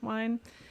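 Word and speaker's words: Wein: I'm not sure how it's pronounced. It's Wien. So Wine.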